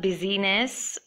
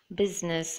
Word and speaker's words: business: next we have the word where I is silent I found only one if you know more words do comment and let me know it's the word business it's not busyness its business but make sure you put the I okay we are going